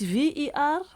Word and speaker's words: Verwoerd: Now, Charlie Kirk and Verwoerd, how do you pronounce that? It's Verwoerd, okay, are the same brand of poison.